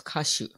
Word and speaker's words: Kashu: And in the old days, they used to call California Kashu, with, you know, different character, but the pronunciation was Kashu.